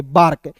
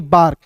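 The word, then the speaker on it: bark: बी का ब होता है। और देखिए यहां पे ए आर के लिखा हुआ है। तो यहां पे देखिए नियम क्या कहता है? ए के बाद आर आएगा। तो यहां देखिए ए के बाद क्या आया? आर आया। तो ए का उच्चारण आ के रूप में करेंगे। के का क लिख दीजिए और आर है। तो यहां पे रेफ लगा देंगे। बार्क बी ए आर के बार्क।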